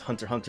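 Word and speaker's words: Hunter x Hunter: because with Hunter hunter it's actually pronounced hunter hunter in Japan there's no X so I'm just gonna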